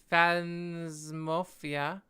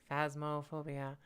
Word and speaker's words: Phasmophobia: um phanto fan would you call it fan fans mafia i butchered that name phasmophobia i'd rather play that one somebody wanted me